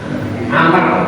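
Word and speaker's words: عمرو: Khalid bin Abdullah dari Amr. Kalau ada wawunya ini bacanya Amr, kalau ini tidak ada wawunya bacanya Umar. Nah, itu membedakan.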